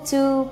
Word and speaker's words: to: Dan go to Paris, go to Paris, to-nya akan dibaca de. Kenapa? Setelah o, o, go, go adalah vowel, masuk ke diphthong.